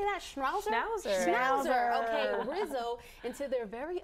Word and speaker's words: Schnauzer: shrines how do you say that shroud Schnauzer Schnauzer okay Rizzo into their very own Dr Seuss